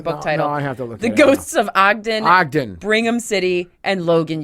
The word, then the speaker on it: Ogden: also has a book called The Ghosts of ogan Ogden I said it wrong I said something weird